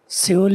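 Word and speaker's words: Seoul: आगे तीसरा जो है एस ई ओ यू एल जी सेल इज the capital of the country ट लार्जर इकोनॉमी दे हा सोल है इसका तलफ सोल just like S ओ यू एल एस ओ एल ई दोनों का सोल ही है तीसरा यह यह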